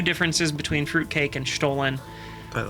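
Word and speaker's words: Stollen: you wouldn't know that it's not pronounced stolen because it's spelled the exact same way as the English word stolen except one L I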